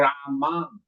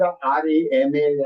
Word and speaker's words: राम: इट इज नॉट रामा. काफी लोग RAMA यानी रामा नहीं, एम को प्रोनाउंस करने के लिए to make the sound of एम, म, इट गिव यू अ.